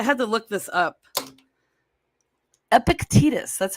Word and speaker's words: Epictetus: feel like I had to look this up Epictetus that's how you say his name take the